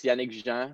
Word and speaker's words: Yannick: names yeah well well in french it's yannick so i like i